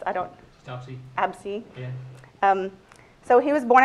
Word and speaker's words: Abse: How would I pronounce? I don't. Absey.